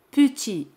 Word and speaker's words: petit: La palabra petit significa pequeño. Petit. T al final es muda, no se pronuncia.